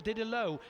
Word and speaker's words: Diddelaw: I think just in behind them looked like Christian Diddelaw, I think, on the number 146 machine, or Diddelaw, to give it the correct pronunciation.